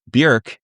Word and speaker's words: Björk: Björk, because you know that her name is actually pronounced Björk and not Bjork.